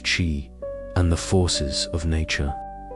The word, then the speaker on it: qi: Ancient Chinese practitioners believed that health was a state of balance between the body's energy, or qi, pronounced qi, and the forces of nature.